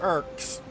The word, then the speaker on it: Urk: It's pronounced like Urk. You know, that classic death sound in every bit of written fiction.